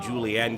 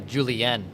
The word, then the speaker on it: Julien: I love your uh Julien is that the Ross Brendle uh Lakeville French coming coming through right here on the scorner ex Innings podcast I feel like that's the Canadian pronunciation of julienne and I uh quick